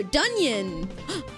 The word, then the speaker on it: Dion: It's uh it pronounced like onion, but a D at the front. Oh, dion.